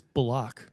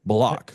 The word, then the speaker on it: Bullock: I believe it's Bullock. Bullock. He pronounced it Bullock.